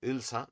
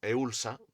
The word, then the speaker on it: Ulsa: 1905 Japón impone el pacto de Ulsa, mejor pronunciado Ilsa, no Eulsa, que es como está escrito por ahí, que básicamente son 5 puntos en los que Corea pasa a manos de Japón directamente.